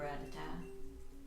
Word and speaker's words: Rattata: a little bit of a risky strat hello ratata or rattata as some people pronounce it i like how his little feet